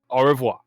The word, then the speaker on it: Au revoir: Au revoir, Mr. Lawrence. You can't hear it because it's, but you understand. Yes. Au revoir.